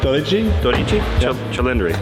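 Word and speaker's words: Dodici Cilindri: So how do I pronounce it? 12 Cylindri? Dodici, Oh my which God. is 12. Say it again. Dodici, Dodici? Cylindri, like cylindri.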